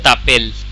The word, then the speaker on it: t'appelles: S is silent at the end all of the time.